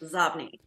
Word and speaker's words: Xobni: But by the way, that is inbox spelled backwards and it is pronounced Zobni.